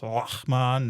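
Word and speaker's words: Laȝamon: So I pronounce it Leamon because that's easy. But the little symbol in the middle is actually an Old English symbol. And so I've also heard it pronounced Lachman and various other formulations. But we're going to go with Leamon.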